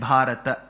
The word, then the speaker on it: Bharata: memes and ridicules that people south of the vindas say bhata and not bhat why why that extra a because in samsam you